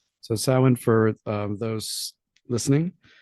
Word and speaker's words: Samhain: So Samhain, for those listening, you'll probably recognize the spelling more than you will the sounding. You'll It's spelled Samhain, which you probably know as the original Halloween, but is pronounced Samhain.